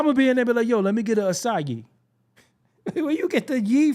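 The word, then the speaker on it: açaí: get the s from look how it's spelled and then we universally as a people are like no it's pronounced assai how what what what's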